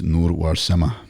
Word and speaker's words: Nur Warsame: I'm Ahmed Uruch, and today's guest is Nur Warsame. Welcome. Brother, did I pronounce that right?